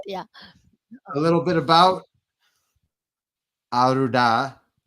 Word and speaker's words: Anuradha: I am Anuradha. You say it so much better Anuradha than. I do. Much better. Yeah, So I'm so used to it. Yeah. a little bit about Anuradha that you should know.